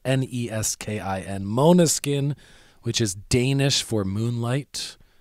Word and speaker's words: Måneskin: Måneskin, which is Danish for moonlight, because their bass